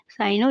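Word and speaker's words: cyano: Examples are, इसकी मिसालें bacteria and साइनो या काइनो बैक्टीरिया, बैक्टीरिया और काइनो बैक्टीरिया हैं. दोनों तरह से प्रोनाउंस किया जाता है, काइनो भी पढ़ा जाता है और साइनो भी पढ़ा जाता है.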